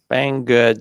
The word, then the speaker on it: Banggood: Banggood. So it's spelled how it sounds. Bang, then good, which is an interesting name, of course.